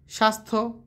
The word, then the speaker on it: স্বাস্থ্য: শেষে যুক্ত ব্যঞ্জনের সঙ্গে থাকা জ ফলের কোন উচ্চারণই হয় না যেমন সন্ধ্যা স্বাস্থ্য অর্ঘ ঠিক আছে র র বর্ণের উচ্চারণ হচ্ছে